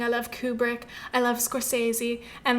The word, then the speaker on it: Scorsese: directed by martin scorsese i did look up the pronunciation of his last name because i mentioned it in the last episode i think he pronounces it scorsese but then it's like is that the real italian way to say it i don't know so